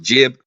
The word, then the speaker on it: jb: They have it as IB or JB, but it's pronounced jib.